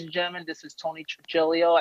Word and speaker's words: Trigilio: So ladies and gentlemen, this is Tony Trigilio. Am I pronouncing your name right, by the way? That's right, Trigilio, yeah.